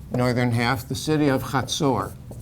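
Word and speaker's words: Hazor: half the city of khatsur you'll see it written with the z or it's ha is how you say it and there there's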